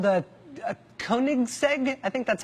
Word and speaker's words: Koenigsegg: the world including some Swedish thing called the Koenigsegg I think that's how you say it koe n IG s e-g Koenigsegg he had one that was one of only